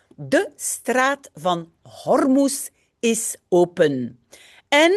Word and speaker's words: Hormuz: So the 11th article we're reading says the Straat van Hormuz is open. And like in English, you pronounce the H.